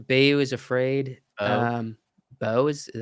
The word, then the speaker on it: Beau: Joaquin Phoenix for Bayou is Afraid. Beau? Beau is that how you say it?